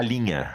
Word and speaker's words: linha: In Portuguese, we say a linha.